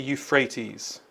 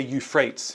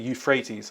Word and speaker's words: Euphrates: So the river names are the Tigris and the Euphrates. That's how you pronounce them. I think they're Greek words. Uh don't say Euphrates. It's the Euphrates, but they're not in Greece.